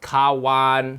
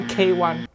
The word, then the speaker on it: Kawan: It pronounced Kawan, not K1. Kawan means friend in Malay.